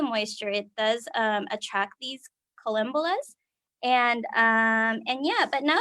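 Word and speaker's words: collembolas: Oh, it's columbolas. I keep forgetting how to pronounce it, but it's columbolas, and they were just everywhere.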